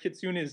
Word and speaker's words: Kitsune: Yeah, well, we weren't sure how to say Kitsune's name first, and I think that's actually correct. in the Japanese is sort. I mean, I'm mangling. I don't have Japanese accent, but is kitsune as opposed to kitsune or I don't know, something else.